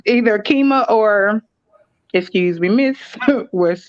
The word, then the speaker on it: Qimmah: i was telling her my name is pronounced keema she was like oh